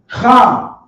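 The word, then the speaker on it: חם: As it would be pronounced in Hebrew, Cham. Ham.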